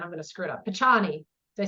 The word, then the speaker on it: Picciano: last name and I'm gonna screw it up pachani did I say it right pachano pachano this is Barb pachano Barb is a